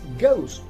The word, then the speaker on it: ghost: spelled as ghost and it is pronounced as ghost in ghost the letter h is also silent we have another word